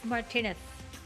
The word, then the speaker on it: Martinez: luis martinez martinez with martinez um interesting so oh a lot of people thought it was louis martinez i fooled you because i pronounced his name the spanish way cp can anybody catch